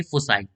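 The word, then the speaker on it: foci: ठीक है ना, हम इसको अच्छे से प्रोनाउंस करेंगे, फोसाई।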